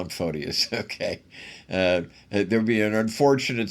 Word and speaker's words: Photius: Let's call him Photius, okay. There'd be an unfortunate similarity with the pronunciation of excrement if I were to say Photius.